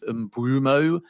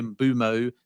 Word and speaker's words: Mbeumo: I know those that live in Africa say there's kind of a W in there so it's sort of bumo but I say bumo because that is like for like how he pronounces it.